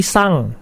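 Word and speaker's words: 三: siswa-siswi SMK 1 Cisarua bila ada kata Andy belakang seperti angka 3 ya itu dibacanya bukan San tapi sang jadi setiap ada kata n di belakang sebuah kosakata itu dibacanya Al jadi disini ditulisnya sandi bacanya sang itu ya Saya ulangi lagi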